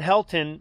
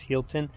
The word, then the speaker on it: Healdton: he'll run right so someone said helton and so we we're we were doubting because we've totally screwed up pronunciations of towns before in the past but it's hilton these are the bathrooms